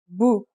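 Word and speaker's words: بُ: And finally, here's a dhma. It changes the pronunciation to bu.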